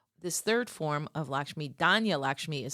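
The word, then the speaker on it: Dhanya: This third form of Lakshmi, Dana Lakshmi is spelled D Han Ya.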